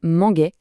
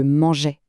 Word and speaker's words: mangeais: Pour manger, si on n'ajoutait pas un E devant le A de est, on prononcerait manguait avec un son dur. Le E est là pour garder le son je mangeais.